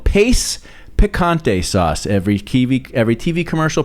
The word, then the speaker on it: Pace: Dad referred to it as pache. He instead of just the simple pronunciation that it was, Dad couldn't accept that it was just that simple. No. It was pache.